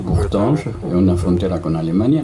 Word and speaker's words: Bourtange: Un fuerte, Bourtange, se puede pronunciar en francés, Bourtange, en una frontera con Alemania, no está muy lejos.